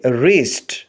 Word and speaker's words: wrist: کے اسپیلنگ ہیں WRIST۔ اس ورڈ میں W سائلنٹ ہے، W کو چھوڑ کر باقی 4 لیٹرز کی آواز کو ملا کر پڑھیں گے رسٹ، رسٹ یعنی کلائی۔ اگلے لفظ کے اسپیلنگ